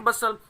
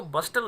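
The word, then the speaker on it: bustle: That day, उस दिन, usually सामान्य था, देयर वॉज अ ग्रेट बसल, देखिएगा STL के कॉम्बिनेशन में T साइलेंट होता है स्टूडेंट्स, तो इसको बस्टल नहीं बोलते, बसल बोलते हैं, शोर शराबा।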